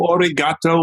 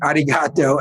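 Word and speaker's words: arigatō: path do you know how to say thank you in japanese it's arigato okay mr roboto and they didn't have domo origato mr roboto yes but it's actually arigato and they did not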